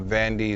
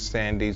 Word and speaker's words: Sandy: It's not Vandy, it's Sandy.